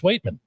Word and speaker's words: Waitman: It was Waitman. I said Corliss Waitman. And what he was doing was he was waiting because he's the Waitman. Okay, Waitman. Wait, get it? Like it is spelled W-A-I-T here.